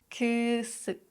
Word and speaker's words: kısık: So if you know that meme, just focus on that sound. Kısık, kısık, ışık, ışık, mısır, mısır, yazlık, yazlık, kadın, kadın.